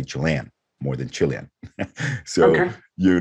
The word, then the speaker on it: Chilean: to find the word how do people pronounce chilean do people say chilean or chilean because if you look at the dictionary both actually exist but let's say yeah